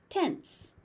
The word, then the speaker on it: tense: Tense. Tense. It kind of looks like tens, but it's tense.